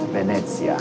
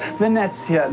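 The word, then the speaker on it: Venezia: See, once you know it's pronounced Venetsia, how do you say Venice, right?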